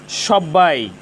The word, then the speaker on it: সব্বাই: তিব্বত, এখানে ব এর সাথে বফলা যুক্ত হয়েছে। ব এর সাথে বফলা যুক্ত হওয়ার কারণে বফলার উচ্চারণের কোনো পরিবর্তন হয়নি, বফলার উচ্চারণ অবিকৃত রয়েছে।